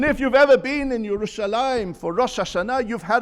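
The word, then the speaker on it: ירושלים: On 669 occasions, it is mentioned in Tanakh, spelt Yerushalayim without the yud before the final mem, but we pronounce it Yerushalayim, whereas everyone else calls it Jerusalem, Yerusalem in the singular.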